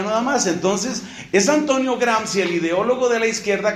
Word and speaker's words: Gramsci: ideólogo de izquierda italiano llamado antonio gramsci se escribe que era a m sc y msc i grans éste antonio gran si se da cuenta de